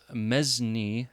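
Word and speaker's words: mesne: holding from the tenant in chief was a mezni m-e-s-n-e tenant generally a knight or baron who is sometimes a tenant in chief in their capacity as holder of other fiefs below the mezzny tenant further mezzanine tenants could hold from each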